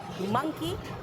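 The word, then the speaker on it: monkey: Pronunciation मंकी एंड डोंकी, मंकी मॉन्की नहीं, एंड डोंकी Dunki नहीं।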